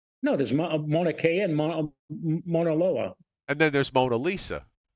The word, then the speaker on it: Mauna Loa: Loa oh there's there's a there's a I pronounced it manaloa so it's is there a manaloa no there's Mauna Kea and Mauna Loa and then there's Mona Lisa yeah now one